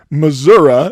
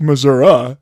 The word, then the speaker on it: Missouri: There was a moment in the podcast where Professor Leduc pronounced the word Missouri with an H, or perhaps Missouri with a UH, while referring to the northwestern portion of the state of Missouri, specifically Caldwell County.